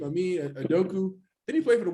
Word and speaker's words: Udoka: know how to say his name i mean adoku did he play for the warriors back in the day yeah he made udoka yeah yeah there you go yeah doga please